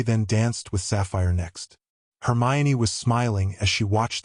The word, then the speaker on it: Hermione: Your name is Hermmon Nini. Actually, it's pronounced Hermione.